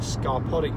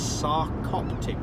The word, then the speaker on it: sarcoptic: so sensible about this Susan also corrected me that I got my pronunciation wrong and I did and I think I caught I've been calling it scarpodic mating it's sarcoptic range and demodective image needs